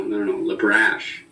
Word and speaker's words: LeBrash: It's spelled like it sounds, but you would have no idea how many people go LeBrash? No, LeBrash. Exactly.